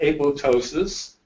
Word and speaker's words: apoptosis: in an orderly process called apoptosis the second p is silent and this is very